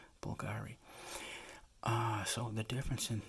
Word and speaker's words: Bulgari: think this is pronounced Bulgari that's like the Latin V is pronounced like a u Bulgari uh so the difference